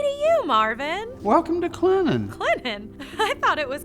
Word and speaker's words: Clinton: you marvin welcome to clennan clinton i thought it was clinton well there is a t in it but around here we say where the t is silent and sweet how many industrial sites